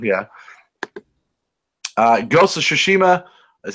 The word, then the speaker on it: Tsushima: really I read that wrong yeah ghost of Tsushima is how you say Tsushima I don't know you pronounce ax I have that as Tsushima that